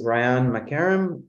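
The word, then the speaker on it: Rayan Makarem: uh yeah thank you so my name is Ryan McCarron r-a-y-a-n-m-a-k-a-r-e-m I am the climate policy advocate for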